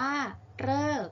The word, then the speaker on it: ฤกษ์: อ่าน ว่า ทฤษฎี ม.ค ที่ 7 ทำ ที่ ออก เสียง เลอ เช่น ฤกษ์ อ่าน ว่า ฤกษ์ ที่ 8 ค่ะ ข้าม